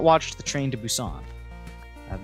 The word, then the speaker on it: Busan: inventory grass i don't want you it's pronounced busan that's literally what i'm saying i'm saying busan